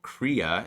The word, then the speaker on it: Krea: And then what I'm using for the creative software is called Krea. It's spelled Krea.ai.